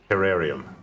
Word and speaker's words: terrarium: Terrarium? Terrarium. You say it like artesian.